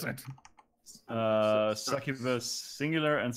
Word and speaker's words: succubus: How do you pronounce it? Succubus singular and succubi plural.